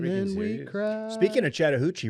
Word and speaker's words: Chattahoochee: Speaking of Chattahoochee, rhymes with Mariucci, former coach of the 49ers in San Francisco, Steve Mariucci.